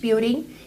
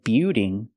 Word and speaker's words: building: warehouse is a large buing used to store Goods the word is not pronounced buing it's pronounced Bill building building use the short I sound like this is plus the dark L Bill o building building